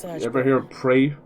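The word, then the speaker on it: Praey: like you ever hear pray for the gods but it's spelled r a e y for the gods could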